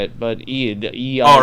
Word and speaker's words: Eid: I don't know how to say it, but Eid. Oh, right, you know, EID, it's like right, Eid. it's a Muslim holiday. Eid Mubarak. yeah, what? I'd more about it. I think it's Eid Mubarak.